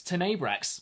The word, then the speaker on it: Tena Brax: really big impression, and it actually rhymes with Redax, funnily enough. It's Tena Brax.